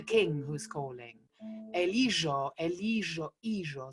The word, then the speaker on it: hijo: Ellos, ellos, hijo. So we don't pronounce the H and the J becomes like a J.